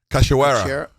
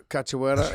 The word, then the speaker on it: Cachoeira: Cachoeira. Cachoeira. Okay. Cachoeira.